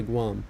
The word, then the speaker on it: Guam: The aircraft headed back to Guam, which rhymes with bomb, but he was thinking of Greenland now.